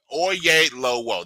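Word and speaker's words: Oyelowo: You've got Zoe Saldana and you've got David Oyelolo. Oyelolo. There it is. Okay. Oyelolo. I actually watched this pronounce his name a little bit ago on YouTube because I wanted to give respect to it.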